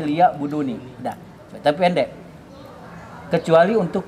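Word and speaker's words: لِيَعْبُدُونِ: jinna wal insa illa liya'buduni. Jadi kalau yang bagus bacanya itu di situ ada nun yang menunjukkan kepada mutakalim. Ya. Liya'buduni meskipun pendek. Ya, kalau kalau bisa tuh bukan liya'budun saja tapi liya'buduni.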